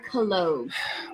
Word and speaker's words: collogue: Henry, have you ever heard of the word collogue? I have not heard of that word. It sounds awkward. It sounds like cologne. All right, listen. Collogue. Collogue. Yeah, that's how you say it.